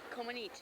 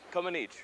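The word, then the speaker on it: Comăneci: Comaneci. Comaneci. Yes. You don't say the I.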